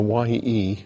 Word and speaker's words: Ye: And of course they all got the klaxons, because you don't pronounce the T, the Y, ye, it's just TH.